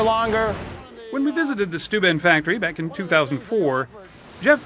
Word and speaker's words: Steuben: often mispronounced but rarely mistaken stu ben glass was regarded by many as the finest